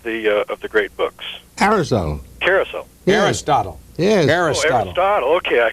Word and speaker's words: Aristotle: great books arisol Carousel Aristotle yes arist Aristotle okay I could Aristotle I'm sorry it's old man Aristotle it's more my problem than yours rhymes with bottle thank you and why